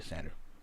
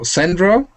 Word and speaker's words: Sandro: good way to get a hold of you, Sandra? I'm sorry, I didn't get that. What's a good email or what's a good method to get a hold of you? It's Sandro.